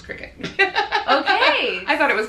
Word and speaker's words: Cricut: I pronounced that cry cut. Yeah, you know. I used to think so too. It's Cricut.